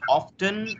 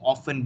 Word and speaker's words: often: I have a question when you pronounce often or often which is correct or is it British American thing yeah both acceptable well British and American oh all right that